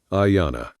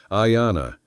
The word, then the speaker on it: Ayana: Then Ayana. He tasted the syllables, the long vowel like a held breath. Ayana, he said back to